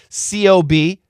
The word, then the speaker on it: cob: C O B. Cob Cab. But if we stop the sound cob cob c o p cop